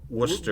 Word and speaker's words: Worcester: and they're from worst year how do you pronounce it worser Worcester Worcester Worcester Massachusetts so the band is command